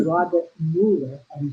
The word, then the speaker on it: Muller: And I found a reading from a man by the name of Robert Mueller, and it's spelled Muller, if I'm not pronouncing it right.